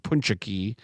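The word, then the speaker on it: pączki: I learned yesterday that it's it's punchak is the singular and punchuki. There's there's a syllable in there that gets elided.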